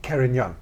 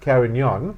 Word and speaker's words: Carignan: to help me pronounce because I couldn't even pronounce it properly. Carignan. Carignan.